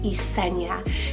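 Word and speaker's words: Esnia: s n i a eena now for the ending you could do like a ya a enia it's just so stunning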